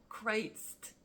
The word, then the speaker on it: Critz: kind of backwards like Crist you know like with the S sound at the end and it's not just